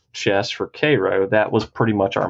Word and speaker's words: Cairo: of my life in a town called Koo Georgia which is spelled like Cairo and my high school